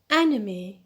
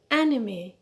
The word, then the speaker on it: anime: the line i start anime anime yeah the stress is on the first syllable is on e collect collect the stress